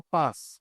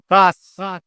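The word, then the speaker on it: πᾶς: No paz, sino paz con ese y con fuerza en la A. Así se pronuncia en griego paz, que significa todo o significa de cualquier manera.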